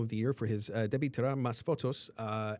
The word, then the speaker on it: Debí Tirar Más Fotos: The Bad Bunny won for Album of the Year for his Debí Tirar Más Fotos album.